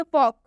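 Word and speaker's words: folk: मतलब होता है बातचीत एक और एग्जांपल देखिए फॉक इसे भी हम फॉल्क नहीं पढ़ेंगे क्योंकि इसमें भी एल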